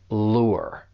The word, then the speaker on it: lure: When you pronounce this verb, just make sure that you are saying that diphthong, because that U, it's going to sound like a combination of vowel sounds. Lure.